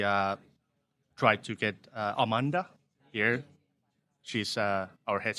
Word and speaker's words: Amande: we're at the bistro Amanda did I pronounce that correctly uh uh it's amand actually uh well it's a French word and translates to uh